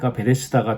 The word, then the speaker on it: 베데스다: 깨끗이 씻었다는 것이죠 그러니까 베데스다 연못의 원래 용도는 재물을 정결하게 짓는 장소였습니다 베데스다는이 연못의 이름은 원래 베 헤스는 히브리어인 이것을 헬라어 식으로 발음하니 베데스다가 된 것입니다 집을 뜻하는 벳 그리고